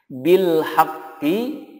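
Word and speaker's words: بالحق: Contohnya bil haqqi jika waqaf menjadi bil haqq. Bil haqq. Ada tekanan dulu haq gitu ya. Kemudian dikolkolahkan.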